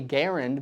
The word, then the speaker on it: Garand: be clear on something if your reasoning is I want to say Garen because that's what the founder intended that's totally fine a lot of people say it that way there's totally nothing wrong with that and uh some people